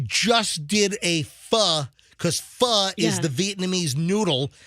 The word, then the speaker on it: pho: I mean, we just did a pho because pho is the Vietnamese noodle. It's spelled PHO, but it's pronounced pho.